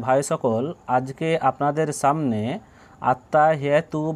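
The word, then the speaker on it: التَّحِيَّاتُ: হায়া জেরে হি, ইয়া আলিফ জাবার ইয়া, আত্তাহিয়া। তা পেশ তু, আত্তাহিয়াতু আত্তাহিয়াতু আত্তাহিয়াতু।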